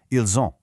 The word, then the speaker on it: ils ont: Because of that liaison we talked about, the S in ils connects with the O in on to make a soft Z sound, ils ont.